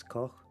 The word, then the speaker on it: Koch: But I'm guessing if it's more of a German pronunciation, it's Koch.